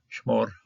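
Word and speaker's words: שְׁמֹר: Shmor, the Bart Bible does catch the comments hatuv here, close syllable, no accent, so it's going to be an O. Shmor, tam.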